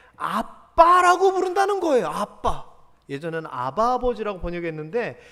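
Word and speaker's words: אבא: 예전에는 아바 아버지라고 번역했는데 이 아바나 우리의 아빠나 똑같은 개념입니다. 친밀하게 아버지를 부를 때 아바라고 불러요. 발음이 거의 비슷해요.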